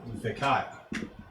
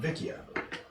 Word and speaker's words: Vikaya: So, the natives would call it Vikaya. Those that are refugees from the farther south would call it Vikia.